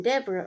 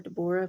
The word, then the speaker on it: Deborah: Then Deborah, I don't know, I've always called her Deborah, but when I looked up how to pronounce it, it's actually Deborah.